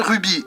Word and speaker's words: RWBY: Ces 4 lettres se prononcent bien Ruby. Dans quelle langue, je ne sais pas, mais dans la série ils disent bien comme ça.